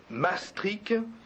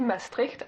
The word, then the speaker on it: Maastricht: Vous allez avoir l'exacte prononciation, mais de Maastricht, tel qu'on dit Maastricht à Maastricht, parce que au nord des Pays-Bas, la prononciation est beaucoup plus gutturale.